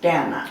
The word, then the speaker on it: Dana: I hate to start off this way, but you know, my name is pronounced Dana.